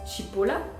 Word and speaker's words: cipolla: Donc par exemple, si on prend le mot cipolla en italien, tu peux te dire que le là je fais un peu à la chinoise, pardon, le ch, du coup le ch se prononce comme le TCH de match en fait. Donc pour t'aider à prononcer chipola, tu peux te dire ok, le C se prononce comme ch de match.